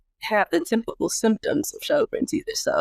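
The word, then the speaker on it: Sjögren's: So, turns out I have Shinron syndrome or spell that SJ O G R E N apostrophe S.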